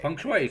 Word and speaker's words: Feng Shui: Oh, Feng Shui, so that's how you say it.